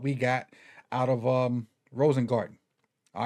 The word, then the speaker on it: Rosengarten: the the draft show I kept mispronouncing his name I threw Roger Rosenthal Roger Rosen I I did everything but his right right his right right name but it's Roger Rosen garden and so um let's